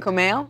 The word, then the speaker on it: Kumail: It's pronounced a lot like it's written, actually. I read, but then I was like, it's yeah. Kumail? Yes, that's right. Kumail?